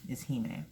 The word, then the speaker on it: Hime: The pronunciation is Hime because I say so.